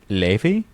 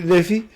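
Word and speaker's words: Laufey: No, it's like it's it's Leafy. Ley. Okay. Is it lonely up there on your pedestal? It's a Ley. Is Leafy. It's actually Ley.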